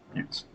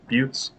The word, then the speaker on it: buttes: so first platoons masons and mutes pronunciation is buttes you could let it